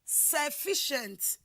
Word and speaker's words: sufficient: and like that and that is why in the word sufficient it is the fee that is wor stress example two what like